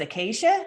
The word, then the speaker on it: Acacia: I think it's pronounced Acacia. Is that right? In Tucson? did I get it? Yes, nailed it.